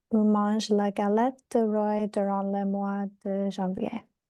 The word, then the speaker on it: roi: le O et le I, they make the sound wa.